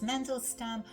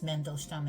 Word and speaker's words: Mandelstam: In English it says Mandelstam. It's easier for me to pronounce Mandelstam as they say in Russian.